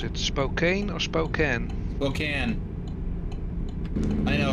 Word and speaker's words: Spokane: lights changing to Red I don't know why it's pronounced Spokan when it's spelled Spokane um a lot of